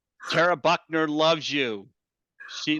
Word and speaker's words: Tara: I do this and you mispronounce my name it's Tera Buckman not Tara Buckner Buckman Buckman I'll never